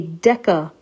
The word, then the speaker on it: deca: they do is they instead of making it that soft c sound they make the c into a hard sound and then they just change it into a k so it's a deca meter deca is our prefix meaning 10.